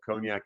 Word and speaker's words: cognac: image that i used i actually put an ice cream cone next to a yak so that we can just you can just get the pronunciation of cognac out of the way right at the beginning but uh jordan i